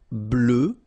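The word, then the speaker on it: bleue: Bleu, bleu. So same thing that we had for noir, you just add this E at the end, but then you don't pronounce it.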